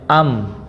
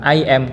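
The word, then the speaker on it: I'm: di atas m ya jadi bacanya am Bukan Iman Kalau ini kan bacanya Im kalau ini am artinya sama saya You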